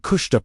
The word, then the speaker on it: kushta: The word kushta pronunciation k o o s h t a h means not just truth